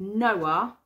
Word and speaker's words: Noa: i was a teenager it is called noah by casual um it's like a little round bottle and it's got like a little pearl in the bottle bottom of it and it's spelt noa um absolutely adore that person